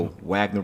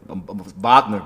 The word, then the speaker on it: Wagner: just mental psyche um the Wagner brother vogner brothers sorry got I pronounced it correctly Vagner brothersman V brother uh